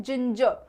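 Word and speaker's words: ginger: क्या कहते हैं जिंजर अब जिंजर भी बोलते हैं बहुत सारे लोग जो कि सही है क्योंकि स्पेलिंग में दिया हुआ है राइट लेकिन आपको इसे कैसे प्रोनाउंस करना है आपको इसे प्रोनाउंस करना है जिंजर जिंजर ठीक है जो र है ना लास्ट वाला इसे भी खा जाना आधा ठीक है चलो नेक्स्ट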